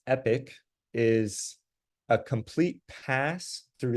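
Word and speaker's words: epoch: whenever we get there and then this word pronounced epic is a complete pass through the training data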